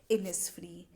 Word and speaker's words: Innisfree: और जो हमारा लास्ट वर्ड है जो कि आपको थोड़ा सा डिफ़िकल्ट लग रहा होगा, इसको हम प्रोनाउंस करते हैं एज इनिसफ्री।